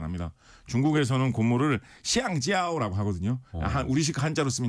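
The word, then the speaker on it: 橡胶: 중국에서는 고무를 시앙지아오라고 하거든요.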